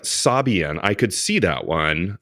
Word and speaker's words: Sabian: line yeah but like Sabian I could see that one um yes phonetically it makes s s again being a stickler s a made a a you know sabayan sabayan whatever it's not a word